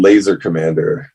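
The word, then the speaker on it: LZRKMMNDR: and stuff like that that's called laser Commander but it's spelled all crazy it's spelled with no vowels but it's l z r k m m n d r foreign but uh yeah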